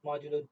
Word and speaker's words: modulo: congruent to 5 okay this is how we pronounce this term modulo 2 so we need to prove that so